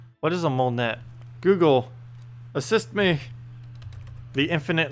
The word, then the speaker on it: Monet: a painter then a Monet a moment in time a Monet a Monet not Monet so basically money but without the other syllable Mon Mon wait how